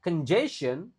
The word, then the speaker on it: congestion: Traffic congestion, G-nya dibaca kayak J. Congestion, O-nya dibaca E lagi-lagi kan.